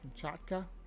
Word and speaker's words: Kamchatka: come come how do you say this kamchata Kamchatka there you go kamchaka the gymkhaka brown bear